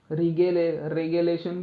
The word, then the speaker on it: regelation: अब इसके स्पेलिंग के हिसाब से इसका प्रोनाउंसिएशन अलग भी हो सकता है. रेगेलेशन भी बोल सकते हैं, रिगेलेशन भी बोल सकते हैं. तो रिजिलेशन ये थोड़ा अच्छा लगता है ना.